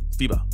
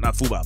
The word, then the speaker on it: FIBA: Is it Fiba? You know, the F-I-B-A, Fiba, right? Fiba, not Fuba, but Fiba. Anyways, let's get into that video, man.